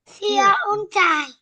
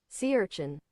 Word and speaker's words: sea urchin: If your pronunciation is correct. Dear Uchai. Sea urchin.